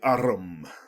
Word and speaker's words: arm: Sure, it's an arm, your honour. He pronounced it arum.